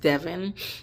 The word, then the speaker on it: Devon: At one point, Devon, which is the husband, Devin, it's spelled Devon, but it's pronounced Devin, according to how I'm hearing other people call his name.